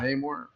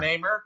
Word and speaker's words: Namor: Namor. Is that how you say it? Yeah. Namor, Namor. not Namer.